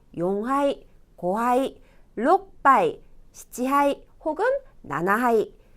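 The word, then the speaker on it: 四杯: 넉자는 용하이. 시하이가 아니고 용하이라고 합니다.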